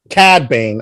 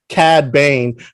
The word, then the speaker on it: Cad Bane: his name k bank cad bain i'm sorry i always want to put the e on the cat on the cad cad bane from uh if you've